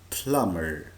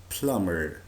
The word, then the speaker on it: plumber: وقلنا قبل كده لو كان عندنا حرف الام جه بعده حرف البي، حرف البي بيكون silent لا ينطق. Again, plumber. plumber.